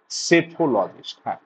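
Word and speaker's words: psephologist: হ্যাঁ right answer কি সেফোলজিস্ট সেফোলজিস্ট পি এস দেখো বানানটা পি দিয়ে শুবি যেমন pneumonia P এন ই ইউ এম ও এন আই এ নিউমোনিয়ার মত বানান কারেক্ট স্পেলিং অক্সিলারি দেখো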